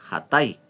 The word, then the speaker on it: Hatay: Esta ciudad en la actualidad se llama Atay, pero se pronuncia Hatay.